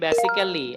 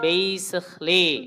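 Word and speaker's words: basically: বলি হিস্টরি তোর হিস্টরি সব আমরা জানি এটার উচ্চারণ কি হবে হিস্ট্রি হিস্ট্রি আচ্ছা আমরা একটা শব্দ বলি বেসিক্যালি আই am from Noakhali এটা কি বেসিক্যালি হবে না বেসিকলি বেসিকলি আচ্ছা আমরা একটা শব্দ বলি বুকেট বুকেট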